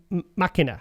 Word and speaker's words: Machina: Oh, sorry, Machina. Like Deus Ex Machina. Oh, like the film Ex Machina. Yeah. Is that how you say it? That's how you say Not Ex Machina.